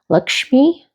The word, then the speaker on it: Lakshmi: And I know I'm going to mispronounce it, but I'm familiar with this image from my trip to Bali because she's a Hindu goddess, and I believe it's pronounced Lakshmi.